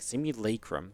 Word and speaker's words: simulacrum: So I looked it up, and there was the British pronunciation and the American pronunciation. And the British one was like simulacrum. And I'm like, what? Who's going to say a simulacrum? What? Like, it says la.